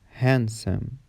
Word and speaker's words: handsome: The letter D is also silent in some common words like Wednesday, handsome, sandwich, grandma, grandpa.